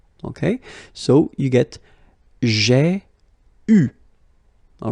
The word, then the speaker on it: eu: You write it like that, eu, but then phonetically, what you will have to pronounce is u. Okay, so you get j'ai eu.